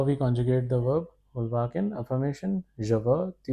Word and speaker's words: vouloir: This is pronounced as vouloir.